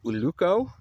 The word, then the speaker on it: ulluco: And then we have a little bit of uluco.